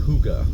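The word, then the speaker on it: hygge: I discovered stumbled upon h y g g e that's Hotel Yankee golf golf Echo Vibes but it's pronounced Huga according to the description on the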